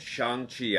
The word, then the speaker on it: Shang-Chi: our non-spoiler review for shanxi and the legend of the 10 rings did you hear that greg from real rejects i said shang chi i pronounced it right i hope you're happy